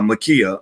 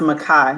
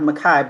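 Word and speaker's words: Ma'Khia: the young lady in uh in ohio uh makia uh makia bryant correct that's the name yes it's pronounced makai makai brian okay makai bryant all right so we're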